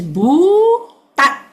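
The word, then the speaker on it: bhūtatthi: Remember I say BHU is one syllable, TAT another syllable, and then the third syllable is THI. So it's Bhutati.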